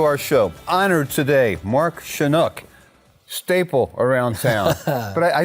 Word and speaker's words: Shunock: your last name and i just say to them i'm chinook the canuck so that was an